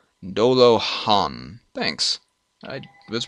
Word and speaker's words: Dolajan: Pronounced Dola. Dolo-han.